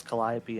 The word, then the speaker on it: Calliope: yes AJ that is in fact how you pronounce Calliope and I will say it again just so